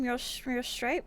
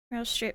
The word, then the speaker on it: Meryl Streep: Mural Stripe?